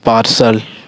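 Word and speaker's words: partial: आगे हमारा है कि टी के बाद अगर टी के बाद आपको ए आई देखिए ए आई आता है तो टी को हम लोग सा से उच्चारण देते हैं।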